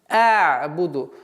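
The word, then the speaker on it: أعبد: «А'буду». Гортанный звук «айн» нельзя резко произносить. Резко с произношением остановки нельзя, потому что получается. А нужен такой маленький сливающий звук «а'буду».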